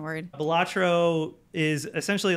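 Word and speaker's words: Balatro: case you haven't heard there's a game called batro have you heard of this Dre batro no is that really how you pronounce it yeah so batro is a hypnotically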